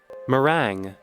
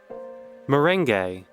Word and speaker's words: meringue: Meringue. Merengue. Merengue. Meringue. Apparently there's a number of completely normal pronunciations that are quite different.